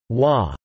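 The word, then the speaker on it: 倭: The term Wa hey is a homophone of Wo Wo pronounced Wa by the Japanese, which has been used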